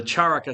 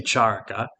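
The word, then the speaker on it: चरक: from this physician um charaka or it might also be pronounced charak with the final a silent but I'll say Charco and the charaka samhita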